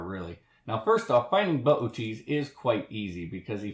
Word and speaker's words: Boötes: Now, I'm very aware this looks like it should be pronounced booties, and we often do in the planetarium for fun, but the proper pronunciation is pronouncing both O's, and that makes it Boötes.